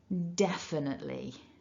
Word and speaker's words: definitely: so don't let that one trick you so definitely so hopefully that will stay in your mind